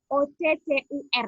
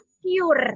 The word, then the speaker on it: occur: Ada lagi occur, yang O-C-C-U-R, ya kan? Itu cara membacanya bukan occur, ya. Biasanya teman-teman membacanya occur, ya kan?